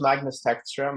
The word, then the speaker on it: Magnus Tagstrom: It's very difficult to pronounce his name. If you can help me out. Yeah. So my name is Magnus Tagstrom.